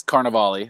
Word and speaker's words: Carnevale: do that before uh mine is carnivale from carnivale or robert carnevale i could have said that it's pretty simple there you go and